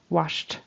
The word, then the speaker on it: washed: into two syllables and pronounce the Ed that's just a t sound washed because sh is unvoiced so it turns into T unvoiced washed her face um